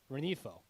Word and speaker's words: Rengifo: There's no the G is silent. The G is silent? Luis Rengifo.